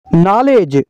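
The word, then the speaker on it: knowledge: का डब्लू खामोश है नॉलेज नॉलेज का मतलब है इल्म नॉलेज का के साइलेंट है नोनिया नोनिया का मतलब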